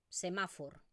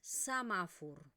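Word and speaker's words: semàfor: Yleida, sur de Cataluña, Andorra, Valencia, se va a pronunciar así tal cual, semáfor, pero en la zona del catalán oriental, que es la zona de Barcelona, Tarragona, Baleares, la zona, el la forma de hablar que tengo yo, lo que vamos a pronunciar es samafur. Esto va a ser una A porque es la vocal tónica y por lo tanto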